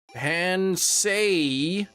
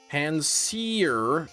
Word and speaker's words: Panseer: Wait, seer has both C and it rhymes with here, so... Pansay, no evil.